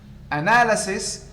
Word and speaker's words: analysis: Analysis, stress shift to the second syllable.